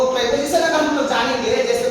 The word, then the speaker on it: preposition: कुछ बच्चे कभी कहते हैं प्रीपोजिशन, कुछ बच्चे कहते हैं प्रेपोजिशन, लेकिन इसका सही उच्चारण है प्रेपोजिशन.